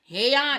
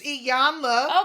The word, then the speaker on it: Iyanla: You always gotta put some extra on the end. It ain't said that. Shoot, I spell it, I pronounce it. Yana. What? Yana, fix my life. That's what it says. It's Iyanla.